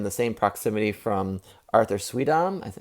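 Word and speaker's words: Suydam: I also had two signatures in the same proximity from Arthur Sweedam. Is that Sweedam? How do you say it? Sudyam.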